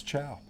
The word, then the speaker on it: Xiao: Xiao. Moving on. It's chow.